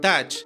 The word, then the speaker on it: Teach: llamaban Barba Negra, y su nombre real era Edward Teach, y se pronunciaba Edward Touch.